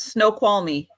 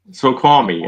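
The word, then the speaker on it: Snoqualmie: scene you're looking at how how do you say that Aaron um let's see here so Squan me close very close snow qual me snow qual me okay snow qual me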